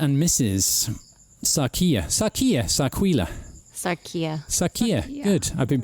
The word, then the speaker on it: Sarquil: close so mr and mrs sakia sakia sakuya sarkia good i've been pronouncing it right all this time can you